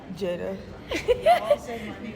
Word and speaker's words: Jaidah: Jaidah.